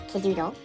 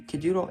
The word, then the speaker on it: Kidoodle: You have to create a folder still Kidoodle. K I D O D pronounced Kidoodle or K I D O O D L E.